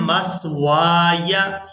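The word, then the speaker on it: مَثْوَايَ: यानी वाव को हम अलिफ मद्दा की वजह से खींच कर अदा करेंगे और खींचते हुए याए साकिन के साथ मिलाएंगे वाव अलिफ या ज़बर वाय मस्वाय, मीम सा ज़बर मस,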